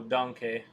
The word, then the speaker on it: danke: I drew like D&D characters, and I googled how to say thank you, and it's danke. That's like one of the 5 German words I know, danke.